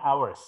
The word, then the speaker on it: hours: Jadi ini bacanya hours ya.